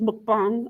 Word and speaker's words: mukbang: the term mukbang um you've probably heard people pronounce it mukbang it's mukbang um and that comes from Korea and what